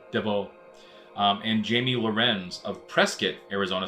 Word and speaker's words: Prescott: And Jamie Lorenz of Prescott, Arizona, spelled Prescott but pronounced Prescott, reported seeing the object and stated that the lights were red with a lead light that was white.